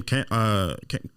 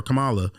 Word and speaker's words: Kamala: it matter if I pronounce her name Kamala or Kamala? That's not her fucking name.